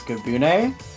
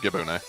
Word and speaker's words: Gibune: I must say, two, maybe I'm mispronouncing this, Gabune maps in this pool is very cool. Now you pronounce that right, Gibune.